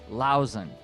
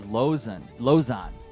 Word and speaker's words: Lauzen: And then finally, Todd Lauzen. Oh, did I say no? It's Lozan.